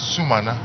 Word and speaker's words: Sumana: You know, yesterday I learned from the speaker that his name is Sumana.